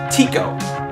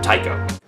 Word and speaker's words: Tycho: that up until recently I thought it was pronounced Tio but it's not it's pronounced Tao what if that was just like my whole